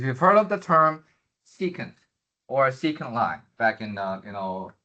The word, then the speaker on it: secant: Then you have this guy, SEC, which is pronounced as secant.